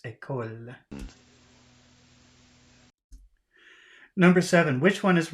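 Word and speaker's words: école: because he's doing the English L which is down in the throat but he's using his tongue at the front of his mouth or when when you say ecole I don't know if I'm saying it right but but that's what they say it should be like not a call English L is down here in the throat a coal but it's ecole number seven which one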